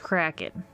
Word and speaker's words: Kraken: That I have heard in other situations, and it is pronounced Kraken. I mean, text-to-speech pronounces it as Kraken, so like, have you heard the correct...